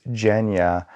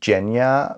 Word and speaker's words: Genya: this is Genya. Alina is supposed to meet the king, so she needs to be prepared. By the way, I say Genya because Leigh Bardugo and the audiobook say Genya,